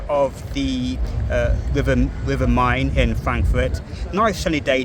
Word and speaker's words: Main: n e and but it's actually pronounced the river mine in German and this is another